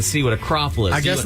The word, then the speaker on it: croffle: Caraffles? What do they call? Did I pronounce it right? Croffle. Croffle. I guess it's a traditional Vietnamese family that has opened the business.